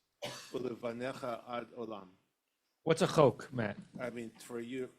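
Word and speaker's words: חֹק: unless you know it, the kamatz under the chet of chak is a kamatz katan, so it's chok. It's really the word chok.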